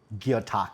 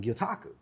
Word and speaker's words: gyotaku: Joined right now by Merv Rubiano with Strategic Angler Custom Lures and Gyotaku.